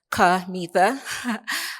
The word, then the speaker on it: Kimetha: So um my name is Kama, pronounced Kama. Um I have done a lot of things.